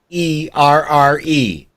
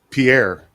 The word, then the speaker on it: Pierre: you don't know it's it's spelled p i p-i-e-r-r-e pronounce it once it's pierre pierre huh well yeah anyway it's all right